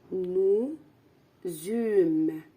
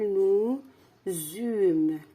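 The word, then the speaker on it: nous eûmes: du beau temps alors nous zum ça s'écrit comme ça le verbe c'est avant c'est le verbe avoir donc au passé simple nous zum la liaison nous zum ça s'écrit comme ça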